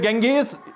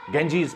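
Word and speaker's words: Ganges: द गंगेज, इसको गैंजेस भी pronunciation करते हैं, लेकिन इसको हम गंगेज ही पढ़ते हैं क्योंकि गंगा से निकाला गया है। गंगेटिक प्लेन्स इनको प्लेन्स कहते हैं। हालांकि इनको अगर यूरोपियन इनको प्रोनाउंस करते हैं तो वो गंजीज पढ़ते हैं इनको।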